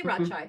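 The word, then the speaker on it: Radchaai: any of this correctly so my official my when people ask me I say Rajai however Raj space is large there are lots of different languages and accents and dialects so however you say it is right somewhere that's my official answer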